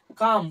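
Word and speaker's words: calm: করছি না তাহলে সি এল এম আমরা কি উচ্চারণ করছি কাম ক আকার ম কাম মানে শান্ত বোঝা গেল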